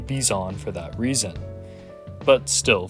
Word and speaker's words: Bizon: be talking about the beezon now I've been told in the past this is pronounced bison however so yeah I'm gonna call it the bizon for that reason but